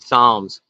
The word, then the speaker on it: psalms: I had to read psalms you don't pronounce the P so what the hell